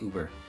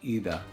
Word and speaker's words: über: And in English you just say Uber. But in German it's actually über.